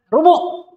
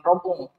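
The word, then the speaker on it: ربع: Oke lanjut kita, rubu seperempat. Ini bacanya rubu ya, bukan rompung. Rubu bacanya, rubu.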